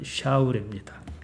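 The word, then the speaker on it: שָׁאוּל: 히브리 말 그대로 발음하면 샤울입니다.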